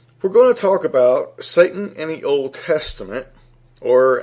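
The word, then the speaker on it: שָּׂטָן: And it's believed to be pronounced as Satan, S-A-W-T-A-W-N, with the definition, or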